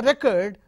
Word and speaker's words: record: You take a record, a record, you can create a record. Now that can be recorded. So if you use the second stress on the second syllable, it becomes verb.